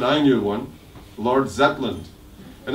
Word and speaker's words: Zetland: Hartley's in the Shetlands I never heard of anybody called Lord Zetland I thought this must be wrong pronunciation and I really almost like about to try to say don't you mean more Shetland and I'm glad I didn't because actually a person I read in the history books the Lord Zetland